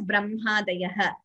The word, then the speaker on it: ब्रह्मादयः: Similarly, even in diacritics in English, though it is written as HMA, we pronounce it as Brahmadayah.